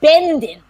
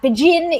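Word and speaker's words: Będzin: pronouncing it very well in yiddish the jewish community called it benden so if you if you are jewish you have family from there you would have called it benden um but bajin is it is sort of i believe how it is pronounced now in polish and bajin had been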